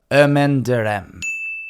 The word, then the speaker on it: Ermine de Reims: french pronunciation before so i've taken extra care to make sure i get this one accurate hermione two hours later got it i got it ermendarem at least that's as close as i can get